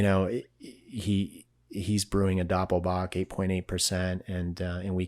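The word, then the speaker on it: doppelbock: releasing the Doppel boach and it's Doppel boach you know Doppel boach is spelled D o p p l b o c k and so we basically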